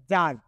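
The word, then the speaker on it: tsar: তো রাশিয়ায় রাজাকে বলা হচ্ছে যার। এখানে কিন্তু টি এর উচ্চারণটা সাইলেন্ট থাকবে। টি এস এ আর মানে হচ্ছে যার।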